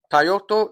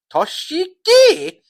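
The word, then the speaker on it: Toshiaki: Tyoto. No, no, no, no. Not Tyoto man. I don't think it's Tyoto man. It's Toshiki. Kawada and Akila Toy.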